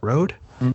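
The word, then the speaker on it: Rood: Moonstar by Brian Brian his last name is r o o d not sure how you pronounce that rad rude rude rude rude I always say it weird but rude and he's actually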